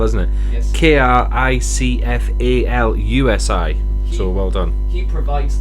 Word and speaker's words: Kricfalusi: He provides the voice of Stimpy, and John Kricofalski, if I'm pronouncing his name right. That's a funny one to spell, isn't it? Yes. Kricfalusi.